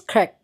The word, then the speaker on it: Kirk: I say Craig, I say Kirk. So I know it's Kirk, but please, I'm a Niger guess.